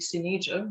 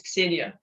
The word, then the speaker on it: Ksenia: They always pronounce it Xenija, which is really weird. So it's Ksenia.